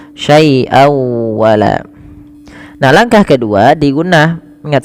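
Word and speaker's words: شَيْئًا وَلَا: tanwin ketemu dengan wau cara membacanya masukkan suara tanwinnya pada lafal syaian kepada huruf wau dengan kita kenal dengan istilah idgham memasukkan bewunah maka syai wa masuk ya bukan hanya sekedar syaian wala tapi masuk saai wala nah langkah kedua digunah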